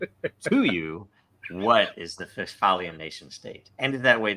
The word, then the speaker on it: Westphalian: They were, of course, Americans, so they were pronouncing it Westphalian. And when I first saw the term, I was thinking like Phalian, like fail.